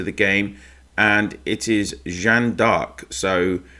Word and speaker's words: Jeanne d'Arc: game and it is Jan dark so that is the French pronunciation for Joan of Arc so Joan of Arc